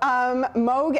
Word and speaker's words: Moog: Andy Moog, the former NHL goaltender? No, Moog, M-O-O-G, Moog or Moog. I believe it's spelled the same.